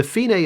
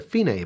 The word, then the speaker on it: fine: or dc alkoda the finae is going to be somewhere in the middle of the music and that is how you pronounce that that's an italian word for the end when the marking says